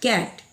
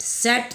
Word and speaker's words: CAT: जैसे देखिए CAT क्या होगा उच्चारण, कैट, CAT कैट, सेट नहीं कैट, क्योंकि यहाँ पर ना ही ई है, ना ही आई है और ना ही वाई है, बल्कि यहाँ पर ए है, इसलिए ये हो जाएगा कैट।